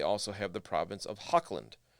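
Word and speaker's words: Hochland: the province of hawkland which i assume is how you pronounce that i don't think it's hotchland um i've seen a lot especially in the the british pronunciation of things when the ch in the middle of the word like that is typically sounds like a k uh if anybody knows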